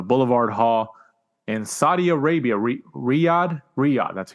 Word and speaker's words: Riyadh: Moving on to this past Saturday, the 28th of October from the Boulevard Hall in Saudi Arabia, Riyadh, that's how you say it.